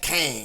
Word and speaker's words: Kang: avengers tower not exactly it reads q-e-n-g and you pronounce that kang yeah now speaking of